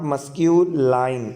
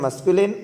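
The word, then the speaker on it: masculine: The right pronunciation of this word is नॉट मस्क्यूलाइन, ये लिखा हुआ है जी, ठीक है. और इसको फेमिनाइन नहीं पढ़ते, ना ये लाइन है और ना ये नाइन है. इसे क्या पढ़ते हैं? राइट प्रोनाउंसिएशन इसका क्या है? मस्कुलिन और फेमिनिन.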